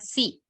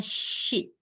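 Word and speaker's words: し: Oke, jadi sa, shi ya Minasa, bukan si. Bacanya shi.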